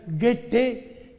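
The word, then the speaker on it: Goethe: tratados como bien dije era el genial guete se escribe goete el juez que no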